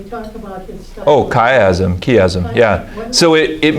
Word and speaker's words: chiasm: I don't know how to pronounce it, but c h i a s m. They talk about his stuff. Oh, chiasm, chiasm.